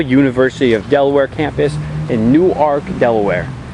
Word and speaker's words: Newark: Previously recorded at the beautiful University of Delaware campus in Newark, Delaware. It's one word, it's spelled like Newark, it's pronounced Newark.